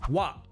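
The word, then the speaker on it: は: As an aside, it's written as the hiragana ha, but it's pronounced wa when it's the particle.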